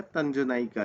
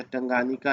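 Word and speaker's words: Tanganyika: इसका आंसर हो जाएगा तंजनाइका लेक। तंजनाइका लेक जो है, या टंगानिका लेक जिसे कहा जाता है, तंजनाइका या टंगानिका, कुछ भी कह सकते हैं आप प्रोनाउंसिएशन में।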